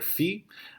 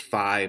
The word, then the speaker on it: phi: use the greek letter fee which sometimes pronounced phi but the traditional greek pronunciation is like the fees that you would pay for school or something like that